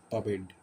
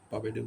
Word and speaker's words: pervade: এখন যে ওয়ার্ডটা দেখবো সেটা হচ্ছে আমার পাবেড। পাবেডের উচ্চারণ তোমার ট্রাই করুন। বেইড, অর্থাৎ আর এর উচ্চারণটা আমার হবে না। পাবেড শব্দের অর্থ হচ্ছে পরিব্যাপ্ত করা বা ব্যাপকভাবে ছড়িয়ে পড়া।